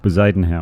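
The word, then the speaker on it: Bezuidenhout: Bezadenhout.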